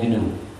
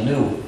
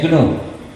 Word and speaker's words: GNU: se puede pronunciar como como si comenzara por ñ pero la pronunciación errónea que no debe usarse Nunca es Linux Porque este sistema no es Linux es gn y en el año